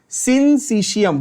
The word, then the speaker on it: syncytium: Muscle fibre is अ सिंसिशियम। बहुत बच्चे ये वर्ड ही नहीं बोल पाते, प्रोनाउंस ही नहीं कर पाते। क्या बोलना है? रिपीट करो। मसल फाइबर फंक्शंस लाइक अ सिंसिशियम।